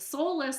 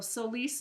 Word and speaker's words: Solis: Soulless, I keep saying, sounds like soulless, without a soul. And I don't like the way it sounds. So Solis is the new way I'm pronouncing it.